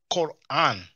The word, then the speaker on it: Quran: and in medu nature it's a cough you know it's a sound we don't have in English on or in French but in English you kind of hear a similar sound when you pronounce Queen it's not the same exact same sound as cup cup Queen so Quran see and um means